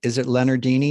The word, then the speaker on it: Leonardini: if you don't mind, is it Leonardini? Is that how you say it? That's exactly right.